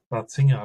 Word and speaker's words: Ratzinger: And I think Joseph Ratzinger, I pronounce him the German way, has learned from him